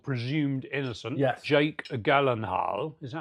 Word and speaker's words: Gyllenhaal: Jake Gyllenhaal. Is that how you say his name? Gyllenhaal? Is it Gyllenhaal or Gyllenhaal?